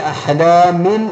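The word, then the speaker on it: أَحْلَامٍ: ബാ ആണ് വന്നിട്ടുള്ളത് അപ്പൊ തൻവീനിന് ശേഷം ബാ വ എന്നുള്ള നിയമം എന്താണെന്ന് വെച്ചാൽ ആ തൻവീനിനെ അഥവാ സാക്കിനായ നൂന് വരുന്ന ഉച്ചാരണത്തെ മീം ആക്കി ഉച്ചരിക്കണം അപ്പൊ ഇവിടെ അഹ്ലാമിൻ ബലിഫ്തറാഹു എന്നല്ല അഹ്ലാമിൻ ബലിഫ് ആ അഹ്ലാമിൻ എന്നുള്ള സാക്കിനായ നൂനിനെ മീം ആക്കിയിട്ടാണ് ഉച്ചരിക്കേണ്ടത് അപ്പൊ അഹ്ലാമിൻ ബലിഫ് അഹ്ലാമിം എന്നാണ് ഓതേണ്ടത് അഹ്ലാമിൻ എന്ന് എഴുതാൻ പാടില്ല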